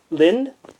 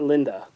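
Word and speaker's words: Linde: a spell to pronounce it's a Lind how about that blind not Linda I got myself an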